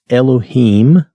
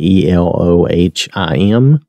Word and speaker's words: Elohim: this as it is phonetics Elohim that's how I've heard it pronounced again I may get some of these things wrong my pronunciation may not be exact but we'll do the best we can and the way I've heard it always is Elohim okay all right so